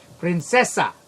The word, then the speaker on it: Princesa: Princesa. There we go. I had to put the Spanish accent on it.